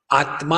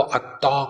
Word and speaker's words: आत्मा: जैसे आत्मा होगा तो आत्मा को अत्ता कहेंगे, तत्वमसी होगा तो तप तमसी कहेंगे।